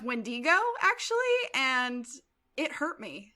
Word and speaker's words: wendigo: because like uh the wendigo um yeah that's pronounced wendigo actually and it hurt me boom trust me